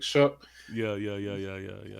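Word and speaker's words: Shough: His name spelled like slow, but like Shuck.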